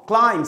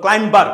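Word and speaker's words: climbing: কোনো ওয়ার্ডের শেষে MB থাকলে বি সাইলেন্ট হবে, যেমন কম, বম, ক্লাইম, CLIMB, আমি ছোটোবেলা বলতাম ক্লাইম, ক্লাইম, অথবা ক্লাইম্বার, ক্লাইম্বিং, এরকম বলতাম, হবে ক্লাইমিং, ক্লাইমার, প্লাম্বার হবে না, হবে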